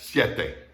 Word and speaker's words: siete: The IE in siete is pronounced like the YE in yes, siete.